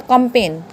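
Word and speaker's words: campaign: COMPAIGN ये यहाँ पे जी आ गया और जी के लास्ट में क्या है, एन, तो ये क्या बन गया, कंपेन, क्या बन गया, कंपेन।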